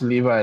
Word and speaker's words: Levi: Yes, it's Levi, like Levi's. Like Levi jeans that you wear.